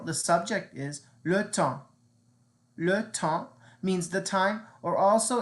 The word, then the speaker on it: le temps: Le temps means the time, or also it means the weather in general. Le temps. Now notice we don't pronounce the S at the end. It's just le temps.